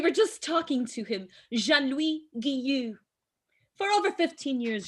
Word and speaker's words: Jean-Louis: So it's Jean-Louis. Jean-Louis. Jean-Louis. Jean-Louis. Luis in Espanol.